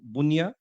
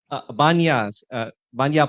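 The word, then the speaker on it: Bunya: And she is a leader in the youth community in from the Bunia, is it? Bunia Scouts Group? Banya Park Scouts Group.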